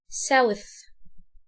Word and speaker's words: south: هنا ما بنطلعش لساننا في الاس، في في تي اتش هنطلع لساننا فنقول south.